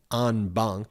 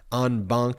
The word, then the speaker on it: en banc: Trump then appealed that in what's called an en banc, you spell it E-N space B-A-N-C, italicized, en banc appeal to the entire D.C.